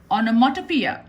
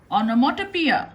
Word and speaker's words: onomatopoeia: Matt o4e yeah okay listen carefully to the pronunciation Oh No 1 2 P ah oh no ma to P ah onomatopoeia onomatopoeia onomatopoeia if you are still